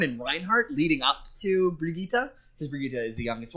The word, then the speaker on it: Brigitte: newest character um Jamie I believe it's Bridget it is pronounced Brigitta she is from I